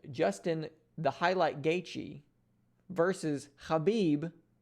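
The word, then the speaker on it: Khabib: the highlight gaichi versus habib the eagle norma khamedov and yes that is the proper pronunciation of both his first and last name so super excited to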